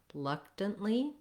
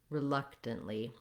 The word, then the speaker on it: reluctantly: case you would try reluctantly reluctantly notice how the first syllable even though it has letters re it the vowel sound is more like an uh or an very short so in the dictionary